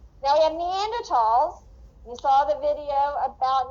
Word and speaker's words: Neanderthal: the german and so scientists have dropped the h from neanderthal and pronounce it with lph because that is in line with the german language that is the root